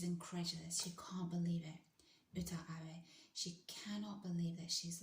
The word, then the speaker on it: Uta Abe: I think that's how you say her name, Uta Abe. I don't think it's Yuta Abe, I think it's Uta Abe, who is a Japanese judo champion.